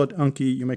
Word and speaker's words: Anki: I call it Anki. You may call it Anki. It's spelled A-N-K-I.